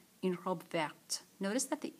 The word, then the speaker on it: verte: We've talked about this, that E's at the end is going to mean that we have to pronounce the final consonant.